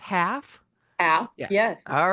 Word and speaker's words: Halff: So first up, Jessica Baker Daly is that pronounced Halff?